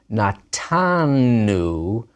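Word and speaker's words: נָתַנּוּ: But natanu, first common plural, we gave, with a dagesh, because the nun of the root is right next to the nun of the ending.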